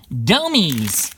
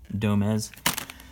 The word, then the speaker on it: Domez: Domies! Domies. Domez. Yeah, it would definitely rhyme with Gomez, so that's Domez.